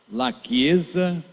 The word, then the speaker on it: La Chiesa: na internet, em italiano, La Chiesa, se escreve La Chiesa, porque o CH em italiano faz C, lachiesa.it.